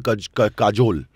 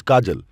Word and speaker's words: Kajol: No, but that's like people call her Kajol. She's Kajal. Yeah. But it's spelled with an O.